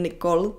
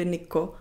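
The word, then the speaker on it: Nikol: karena mereka tidak ada banyak orang Indonesia yang tidak bisa mengucapkan huruf L di akhir Jadi bukan Nicole tapi Niko dan itu yang saya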